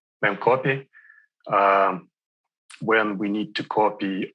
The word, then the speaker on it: memcpy: It can be trivial data, in which case we use small buffer for trivial data and just memcpy, CPY, how do you say it? Memcopy.